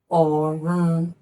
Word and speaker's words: ọ̀run: And if it is written this way, then it is pronounced Orun, do, re, Orun.